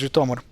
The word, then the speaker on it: Zhytomyr: Well, so the other issue is, of course, look up where the emphasis goes, and here it's on the O. So it's Zhytomyr.